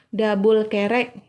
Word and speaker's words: Albuquerque: pelayarannya dipimpin oleh Alfonso dabul kerek Kalau tulisannya Alfonso Albuquerque tapi dibacanya adabul Terek jadi Alfonso dabul kerek melanjutkan pelayarannya dari India